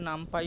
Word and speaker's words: NumPy: এইটা কিন্তু বেস তারপর নাম পি কিন্তু সাইপিটা বানানো হয়েছে তো অনেকে বলে সাই পাই আমি বলি সাইপি আবার অনেকে নাম পাই বলে নামপি দুটোই সেম উচ্চারণে কোন অসুবিধা নেই করতে পারো ঠিক আছে